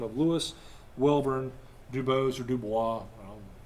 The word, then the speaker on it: DuBose: name of Louis Wellborn Dubose or Dubois. If you want to sound French, it's Dubois.